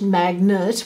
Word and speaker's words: magnet: These words, goblin, cutlets, finished, magnet, we just say nert, but when we spell it, we must say magnet.